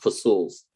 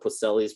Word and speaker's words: Poiseuille: We want to butcher it with the American pronunciation. Yes, it's pronounced Poiseuille's principle. Yes, I used to call it Poselli's principle, and then I took